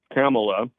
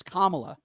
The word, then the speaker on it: Kamala: Now, Biden and Kamala are both in favor. Why don't you pronounce her name right? It's Kamala. Kamala.